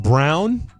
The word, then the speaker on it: Braun: Uh, it's pronounced Brown, but he spells it B R A U N.